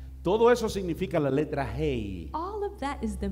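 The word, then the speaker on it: ה: La pronunciación de esa letra es the pronunciation of that letter is una salida del aliento. It's something coming out of breath. No lo pronuncia con la lengua, los dientes o los labios. You don't pronounce it with your tongue, your teeth, or your lips. Simplemente con un aliento que simply sale. With a breath that comes hey! Out.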